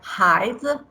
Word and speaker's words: Haizi: Is pronounced like Haizi.